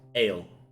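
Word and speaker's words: ael: So you're able to learn one other word, and that is ale, which is spelled Okay.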